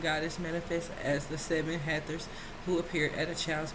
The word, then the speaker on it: Hathor: Beloved to ancient Egyptians for over 3,000 years, Hathor, pronounced Hathor, is a goddess of light, joy, and gratitude.